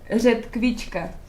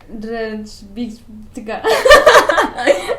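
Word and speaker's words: ředkvička: Yo te digo cómo se pronuncia y tú me vas a tratar de repetirlo, ¿ok? Redkvička. Redžbička. No. Redžbička. Redkvička.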